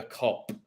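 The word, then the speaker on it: Kop: The Cop. A cop, like a policeman. Joke. No, but cops with a K, not a C. It don't matter. It's pronounced the same way.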